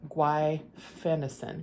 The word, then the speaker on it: guaifenesin: And one of the doctors suggested that I start taking, let me pronounce it right, guaifenesin.